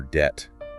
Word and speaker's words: debt: Like the B in doubt or debt.